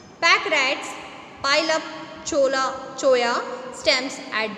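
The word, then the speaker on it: cholla: चोया, यहाँ पर चोला स्पेलिंग लिखी है जिसको प्रोनाउंस करना है चोया।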